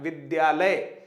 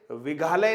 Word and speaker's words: विद्यालय: मित्रों ध्यान देंगे, विद्यालय है, इस शब्द का अगर हमें सही उच्चारण करना है तो वो होता है विद्यालय। विद्यालय है ना, ये विद्यालय नहीं है, विघालय नहीं है।